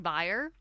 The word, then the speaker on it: B1R3: Is it pronounced like buyer?